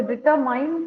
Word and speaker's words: determine: So the determine கிடையாது. You have to pronounce it as determine.